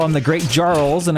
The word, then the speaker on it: Jarl: I got ridiculed on YouTube because I call them the Great Jarls, and I guess the J is silent in the Norse region, so that's gonna be Jarl, I guess is what it is.